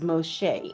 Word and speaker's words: Moshe: Moshe known as Moses today. The correct name is Moshe.